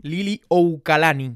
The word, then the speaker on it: Liliuokalani: A la reina Liliuokalani, se pronuncia así, Oukalani, depusieron a la reina